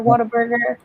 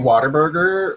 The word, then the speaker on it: Whataburger: I mean, I've never had In-N-Out, and I've never had Whataburger. Wait, how do you pronounce it? Whataburger? I mean, I grew up saying Waterburger, like Water. Waterburger. Like it's a burger made of water.